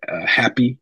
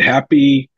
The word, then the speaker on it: HAPI: Another one, I would say, one I'm pretty excited about is called the Happy Protocol, and it's spelled HAPI, all right? Okay. HAPI. And Happy focuses more on the It's almost twofold.